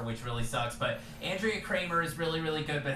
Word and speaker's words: Kremer: Kramer. Even with an E? It's still pronounced Yeah, Kramer?